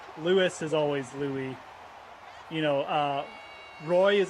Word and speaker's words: Louis: nine times out of 10 they're the French pronunciation so like Lewis is always Lou you know uh Roy is another one like